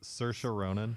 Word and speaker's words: Saoirse: Saoirse Ronan.